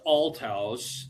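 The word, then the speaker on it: Althouse: So, my last name is pronounced alt house and uh maybe to make it easier for you, my nickname in high school was outouse.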